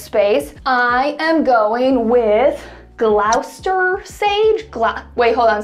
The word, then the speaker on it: Gloucester: I am going with Gloucester Sage Glock wait hold on somebody said that I pronounced it wrong Gloucester Gloster Sage that's probably not right that's probably not how you say it but it is such